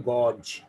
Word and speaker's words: gauge: गॉज नहीं है भाई, गॉज नहीं है, GAUGE लिखा हुआ तो गॉज है, पढ़ा जाएगा गेज। क्या पढ़ा जाएगा? गेज। डिक्शनरी भी खोल के देखना चाहिए, लोगों से सुन सुन कर नहीं इंग्लिश सीखनी चाहिए सिर्फ। प्रोनाउंसिएशन इसका है गेज, एंड गेज means to major, पैमाइश करना।